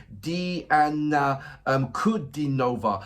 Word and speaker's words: Diana Kudinova: Correct pronunciation is Diana Kudinova.